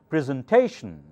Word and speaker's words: presentation: primary accent presentation so remember anytime you see tion the syllable before that should be the loudest should take the primary accent presentation okay those are unwritten